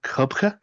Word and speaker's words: coibche: It's it's called a kubka a c o i b c h e.